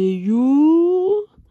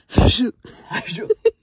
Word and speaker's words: Hjo: Alors You, ça s'écrit H-J-O. Ouais. Et au début, avant que tout va nous explique comment ça se prononçait, on disait je.